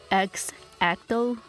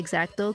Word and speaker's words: X-Acto: just a few dollars it's literally x-acto but I say exacto cuz you know I'm Mexican so I pronounced it that way but I love